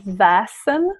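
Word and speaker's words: väsen: to talk about that the concept of vassen which means spirit they are spelled with the letter a in our language which is an a with two dots which signifies that it should be pronounced more like ah yes and this is also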